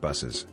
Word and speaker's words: buses: word buses is pronounced buses in fact some people spell it with two s's just like it's pronounced sometimes in english a